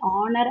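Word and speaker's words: honour: For example, H இஸ் a consonant, but in words like அவர், ஆனர் and honest the letter H is silent.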